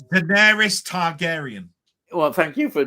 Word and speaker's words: Daenerys: No, it's Daenerys Targaryen. Well, thank you for doing that, pronouncing that.